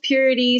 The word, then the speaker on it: Pyureti: sure okay so um it's pronounced purity spell p-y-u-r-e-t-i um and that name